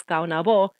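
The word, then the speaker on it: Caonabó: king of hispaniola was kaunavo last syllable stress who ruled the province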